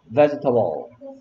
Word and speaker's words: vegetable: vegetable. vegetable. Vegetable. 볼까요? vegetable. 선생님, 이거 외우기 어려워서 베게테이블이라고 외웠어. 스펠링 배울 때. 베게테이블. 읽을 때는 vegetable, vegetable. vegetable. 쓸 때는 베개 테이블.